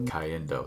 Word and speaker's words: Cayendo: farts all in Spanish yes Olivia but the Caliendo that's how you pronounce it thanks Frank Ocean teaching me how